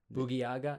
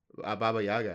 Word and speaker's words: Baba Yaga: You're going to be like, what's John Wick's name? Boogie Yaga? No. Baba Yaga.